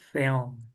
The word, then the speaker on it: film: Only one syllable, Mm. film.